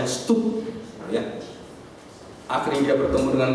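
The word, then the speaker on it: Studd: Dan akhirnya dia tahu, Charles Thomas Stott, bacanya Stup, ya.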